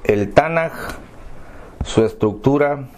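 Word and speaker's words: Tanakh: llama lección 2 el tanaj su estructura y su relación está nada miren aquí se escribe tan a conca pero se pronuncia con jota ganas puedes decir ganar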